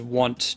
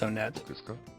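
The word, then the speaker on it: Onett: He said it was Want, Tucson, Threed, Four Sides. For a long time I bought it, and I was like, okay, fine, I'll pronounce it Want. But I think that the consensus is that it's Onet.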